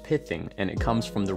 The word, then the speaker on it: pithing: That first word is pronounced pithing, and it comes from the real-world medical procedure